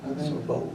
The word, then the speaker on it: Sorbo: Kevin soru how do you say his name Sorbo Sorbo yeah and of course he's he's doing a